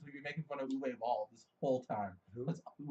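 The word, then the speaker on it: Uwe Boll: Before we get back into the video game, Uwe Ball, Uwe Ball, It's U-Boll.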